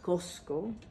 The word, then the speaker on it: Cusco: It's Cusco City, which means, Cusco means in Quechua, Cosco, pronounced Cosco, is the center of the universe, of the Inca Empire, let's say.